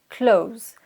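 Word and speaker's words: clothes: anglais les vêtements on utilise le mot klaus close donc il s'écrie c'est elle oth es klaus avec un th mais se prononce comme le mot cloud comme c est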